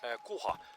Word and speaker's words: kuha: Kuha.